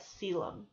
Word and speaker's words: coelom: this road right here you pronounce that Seelam the coelom is an